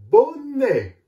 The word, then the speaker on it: bonnet: Par contre, quand la lettre E et la lettre T se trouvent à la fin d'un mot, on ne dit plus « et », mais elle se prononce « est », comme dans « bonnet ».